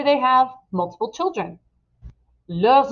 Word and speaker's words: leurs: But let's say they have multiple children, leurs enfants. And there is a Z sound there because enfant begins with a vowel.